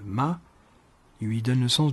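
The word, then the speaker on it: 骂: Petit conseil de prononciation pour le quatrième ton. Ne démarrez pas trop bas dans les graves, vous n'arriveriez plus à descendre. La tonalité est explosive.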